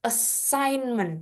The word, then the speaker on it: assignment: Nah, ini ada G lagi, Bro. Andis enggak dibaca bukan assignment. G-nya kita hapus assignment bacanya.